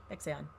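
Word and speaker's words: Baek Sa-eon: Beck Seon.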